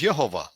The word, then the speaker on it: Yehovah: His name is Yhovah.